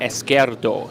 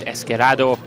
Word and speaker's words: Esquerdo: You see there, Esquerdo. Excuse me, I said Esquerado.